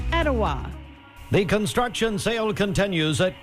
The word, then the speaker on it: Etowah: expires I'm dwane from Cleveland Tennessee and it's pronounced Ocoee Etowah and hawasi Adam Denver asoe hawasi itoa Jamie